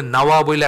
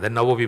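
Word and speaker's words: النووي: আপনারা অনেকেই জানেন একচুি নাওয়া বলে একটা জায়গায় উনার বাড়ি ছিল নাওয়া সিরিয়ায় নাওয়া থেকে নাওয়াবি সেখান থেকে বাংলায় তো আর এই উচ্চারণটা হয় না নববী বলি আমরা আসলে নববীর সাথে নবীর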